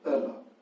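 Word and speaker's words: Ehle: Jennifer Eel, or how do you pronounce the name of the actress who plays the sister of Emily Dickinson? Oh, it's Erla. It's Erla.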